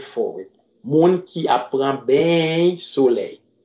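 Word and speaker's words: beny: Moun ki apprend ben soleil. Listen to the pronunciation. B-E-N-Y. Ben. Moun ki apprend ben soleil.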